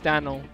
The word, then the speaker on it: Danil: It's not Daniel, it's Danil. Daniel. No, there's no I.